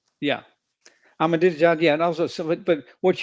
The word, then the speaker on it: Ahmadinejad: Like Ahmadinejad, how do I do I pronounce his name right? He was a he was a leader in the in the kidnappings? Yeah. Ahmadinejad, yeah.